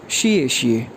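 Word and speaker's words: 谢谢: जी, इसके बाद वर्ड है XIE फोर टोन के साथ XIE, शिए शिए, शिए शिए, शिए शिए, शिए शिए कहते हैं थैंक्स को। अच्छा, शिए शिए का जो रिस्पॉन्स होता है उसको कहा जाता है पूशिए।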